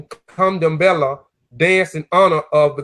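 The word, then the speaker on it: Candomblé: Pronunciation Kandambela, dance in honor of the gods.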